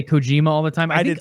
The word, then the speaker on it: Kojima: technically Kojima in Japan.